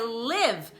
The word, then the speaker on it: live: E o outro som é escrito com I, então é o som de E, tá? I live.